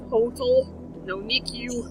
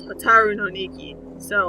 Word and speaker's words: Hotaru no Nikki: And then what's confusing, and I mentioned this to Brian, is the uh T O is a T A in Hiragana. So it's spelled hotol no ni-que, it's hotaru no nikki.So i dunno.